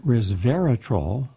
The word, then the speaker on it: resveratrol: comes a study published in scientific reports that resveratrol res aureus Dera the ER a troll trol three syllables resveratrol which is commonly found in grapes